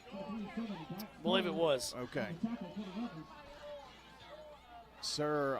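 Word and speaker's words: Serr: Sir on the tackle, or Sear, I think, S-E-R-R, says, pronounced like the old store, Sears.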